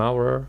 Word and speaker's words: hour: For example, an hour because even the letters H but an hour the pronounce is a an hour.